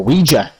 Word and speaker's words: Ouija: So, of course, we are, just in case you're wondering, we are talking about the Ouija board, or Ouija, as it's officially pronounced, the wonderful talking board.